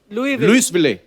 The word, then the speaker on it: Louisville: लुइस जब लिखा है तो स क्यों नहीं बोल रहे? जैसे नाइफ में क साइलेंट होता है, के साइलेंट होता है, वो तो के पहले आता है, ये तो बीच में घुसा हुआ है। बट कई बार लुइस प्रोनाउंस होता है एस के साथ और कई बार नहीं। वो कई क्यों नहीं होता है, कब होता है, ये मुझे पता नहीं है।